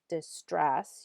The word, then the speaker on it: distress: with the accent marks distress you're putting the stress on the second syllable parts of speech noun